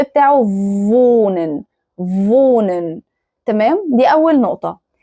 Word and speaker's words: wohnen: في في فالنطق بتاعه فونن فونن تمام دي اول نقطه تاني نقطه في نطق الها الها مش بتتنطق ما ينفعش اقول فوهنن فوهنن هو غلط الهاء لما بتيجي في